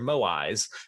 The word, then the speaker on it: moai: Easter Island are actually called moai. Moai. You nailed it. That's exactly how you say it. It reminds me of mogwai.